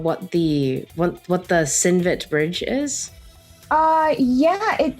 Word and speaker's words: Cinvat: the what what the synvet bridge is uh yeah it well it it's spelled a little bit differently but the chinvak bridge uh is from zoroastrianism